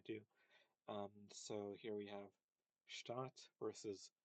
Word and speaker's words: Stadt: So um, here is an example of something where if you don't distinguish between short and long vowels, it might just sound like they're pronounced the same, like oh Stadt, Stadt.